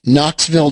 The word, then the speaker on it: Knoxville: oh you know what I think the K is silent Knoxville Divergence at the high